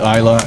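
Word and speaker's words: Islay: a little bit of Pete and smoke from Isa. Did I pronounce that right, Ruben? You did. Yeah, it's it's spelled Isl. If they've only ever read it, they would say is, but it's actually Isa and it's from a certain part of Scotland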